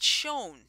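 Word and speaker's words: Schoen: here's the funny thing the guy's name is david shone but it's not spelled like tim david is s-c-h-o-e-n of course i had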